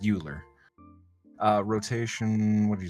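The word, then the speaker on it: Euler: OA yes I know they went with the weird pronunciation I think it was a Frenchman right could be uler it's pronounced eer uh rotation what did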